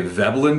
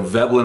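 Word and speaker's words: Veblen: the pipes become a velin good is that the correct pronunciation V I always thought the guy was German I looked him up earlier today he was American so velin I assume is the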